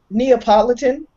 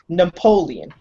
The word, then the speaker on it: Neapolitan: Hey, that that reminds me, you know, uh Neapolitan. Yeah. The ice cream. Yeah. Right. For years and years and years. You know how I pronounce that? Oh, Napoleon.